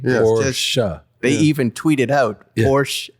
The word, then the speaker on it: Porsche: Like how do you pronounce it? And I'm like it's a family name. Porsche.